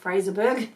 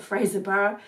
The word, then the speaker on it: Fraserburgh: the frozen Fraser borough which I've been told how to pronounce it now not Fraserburgh but Fraser borough then down to Aberdeen